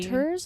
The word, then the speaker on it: Raconteurs: Raconteurs? Is that how you pronounce it?